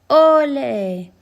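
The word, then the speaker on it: olé: Ole, verbal encouragement among flamenco performers. The stress is on the O, not on the E.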